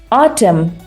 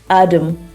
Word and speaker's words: autumn: u m autum autum UK pronunciation is autumn autumn it's a season which is your favorite season by the way Autumn is one of my favorite Seasons autumn autumn in us how you pronounce the same word is Adam Adam Adam right Adam see the